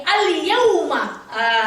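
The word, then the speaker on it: اليوم: Apanya yang jelas Umi? Huruf iya-nya. Karena ya itu termasuk ke dalam huruf alif lam koma riyah. Contoh al-yauma. Al-yauma.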